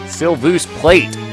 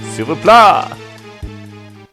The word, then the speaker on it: S'il vous plaît: Sylvus plate. Yeah, I know it's French, but it's fun to actually pronounce things the way they're spelled. S'il vous plaît.